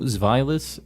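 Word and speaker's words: Zweilous: Dino, Zweilis, and Hydreigon. This is counting in German. Ein, zwei, drei. Like 1, 2, 3. And that's like how many heads they have.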